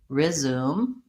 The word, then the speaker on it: resume: dictionary he's seeing that they're writing it as resume and prefer with the short reduced it vowel and I do think